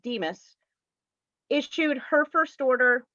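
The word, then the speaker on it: DMHAS: health and addiction services that's abbreviated d-m-h-a-s and pronounced demus is chewed her first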